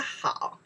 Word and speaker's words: 好: We pronounce the 好.